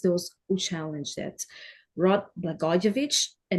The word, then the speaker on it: Blagojevich: Blagoy Blagojevich. Blagojevich. Thanks for coming to Global View. It rhymes with Papadopoulos.